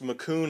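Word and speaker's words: Macoun: These are pronounced macoon apples. She doesn't need to know that.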